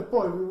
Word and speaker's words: Boil: Well, yeah, Boyle. It was spelled B-O-I-L, as in boiling a kettle.